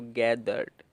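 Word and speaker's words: gathered: फिर ईडी में जो ई है वो साइलेंट है, तो गैदर्ड।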